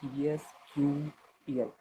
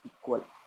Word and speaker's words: SQL: Okay, the correct pronunciation of SQL in continuous issues with the database community. Okay, it is SQL standard that American National Standard Institute declared. Okay, initially it's declared pronunciation as ESQL. Okay, but however, the database professionals have taken to the slang pronunciation as a sequel.